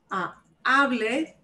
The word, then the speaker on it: hable: Hable no lleva. No lleva tilde.